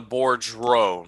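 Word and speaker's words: Boudreaux: apparently it's not uh it's a board row not bordeaux it's board row anyways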